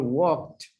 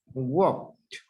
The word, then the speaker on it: walked: Also remember walked, walked. You don't pronounce the E. Walked, no walk it. Work. Yeah, and you don't pronounce either the L. Walked, walked.